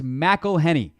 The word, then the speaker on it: McElhenney: McElhenney, what ways to massacre and mispronounce it, there are many. McElhenney. McElhenney. McElhenney. If there was doubt, now there won't be any. It's McElhenney.